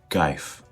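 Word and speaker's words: кайф: A really easy way to remember that one is think of the word kite and just put an F at the end.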